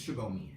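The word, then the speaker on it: Subomi: by Nigerians, but it's Shubomi, and it's spelled S-U-B-O-M-I. Simple, but not really, because the pronunciation of it, there's no H in it.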